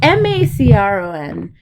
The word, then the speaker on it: Macron: Oh, is it pronounced Macron? Macron. It's Macron is his last name, and he's a president.